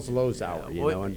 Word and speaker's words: Zlozower: Neil Zlozower. What's going on there, Thanks, Neil? Bob. You actually pronounced it correctly.